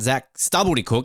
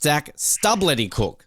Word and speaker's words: Zac Stubblety-Cook: It's not Zac Stubblety-Cook, it's Zac Stubblety-Cook. So we've got to pronounce the L right.